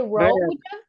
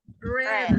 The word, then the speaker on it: read: In simple past, can we say road? No. No. What is the correct one? Red. Red. Red.